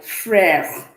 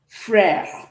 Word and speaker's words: frère: So this will sound like frère, frère, which is brother, okay? Making the E to be light, all right?